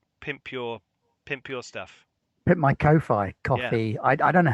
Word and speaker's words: Ko-fi: Put my Ko-Fi coffee. I don't know how to pronounce it. Kofi. Yes, I started up a Ko-Fi, which seems silly because it's supposed to be like coffee, isn't it?